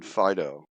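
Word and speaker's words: Onfido: it so uh acquire a identity verification on Pho that's probably pronounced incorrectly it's o n FID o so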